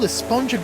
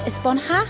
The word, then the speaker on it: Esponja: And that's what this whole Esponja Grande thing has been about, huh? Actually, it's pronounced Esponja with an H sound at the end. Really? but we've all been saying esponja.